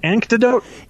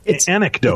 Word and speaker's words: anecdote: you guys an antidote how do you say it an antidote anecdote it's anec anecdote anecdote anec anote sounds much better antidote anecdote anyway I'll